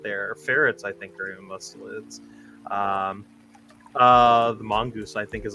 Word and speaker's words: mustelids: Their ferrets, I think, are mustelids.